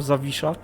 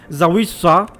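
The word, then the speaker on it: Zawisza: siku back right and and now suris suave zavisha but just pronounce it right please or try to try to at least because zawissa is not the way to pronounce it let's continue like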